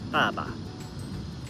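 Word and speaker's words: 爸爸: For example, when you say baba for dad, the second syllable is neutral and it maintains the pre the end of the previous tone. It's not a strong tone, but it's kind of light and short.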